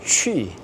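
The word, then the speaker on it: 去: 취. 요거 이제 발음 좀 특이하죠.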